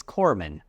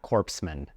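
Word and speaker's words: corpsman: So remember, it's corman, not corpsemen.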